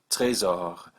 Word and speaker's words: trésor: If it's in the word careful, C, R, F, or L, then generally pronounce it. That'll give you trafic, trésor, golf, and email.